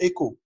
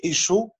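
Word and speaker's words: Écho: اسمه ايكو. مش كده؟ بيتكتب بال CH. محدش سألني عليها قبل كده ده عنوان الكتاب اوكي ايكو ليه ما بنقولش ايشو لان كلمه اصلها يوناني وبتتنطق كده في كل اللغات الاوروبيه الكلمات اللي من اصل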